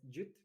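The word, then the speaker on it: GWT: It's Google WebKit, but pronounced as Jute.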